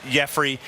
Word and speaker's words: Yefry: over the name factor it doesn't look like Jeffrey first off when you see it know it is spelled re f ry Ramirez Jeffrey Ramirez is the first